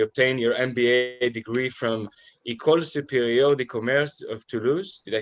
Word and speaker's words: École Supérieure de Commerce: You obtained your MBA degree from École Supérieure de Commerce of Toulouse.